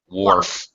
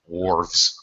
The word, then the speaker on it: wharf: It's more of an or sound, like war. Wharf. Wharfs. Wharves. Kind of rhymes with dwarves.